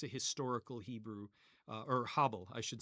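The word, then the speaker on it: הֶבֶל: In ancient Israel in biblical days it would have been pronounced Abel. Abel. And that's a historical Hebrew uh or Habel I should say.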